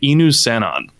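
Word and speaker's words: Inusannon: upon the ruins of a race called the enu cenon which was brand new to me like i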